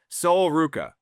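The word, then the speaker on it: Sol Ruca: Gently correct my pronunciation if I butcher these. Soul Ruka.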